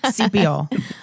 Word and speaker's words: Sepiol: Sepiol. Like sepia toned.